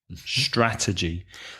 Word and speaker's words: strategy: strategy for my business you have three syllables stress the first syllable strategy strategy the noun that sorry